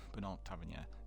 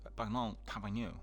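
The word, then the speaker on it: Bertrand Tavernier: And coming back to it, so I've heard that Bernard Tavernier died. Bernard Tavernier, I think that's the way the French would pronounce it, and I immediately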